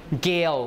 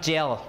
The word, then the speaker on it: gale: Gale, which means strong wind, right? Strong wind. Gale is this vowel. Gale. When you transcribe it's gale. Be careful, this is not gel, okay?